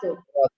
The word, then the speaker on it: rato: And how do you pronounce Rato. rato? Rato. Rato. Okay. Always Rato. practice rolling your R's, especially when walking down the street.